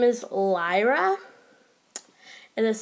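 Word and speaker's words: Liera: new custom that I made, her name is Lyra. It is spelled L-I-E-R-A, and she is a siren.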